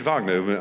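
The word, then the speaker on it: Wagner: whereas we would give it at least two syllables oh so that was her tip so it's that generosity of vow yeah um Vagner Vagner go on no no Vagner the Wales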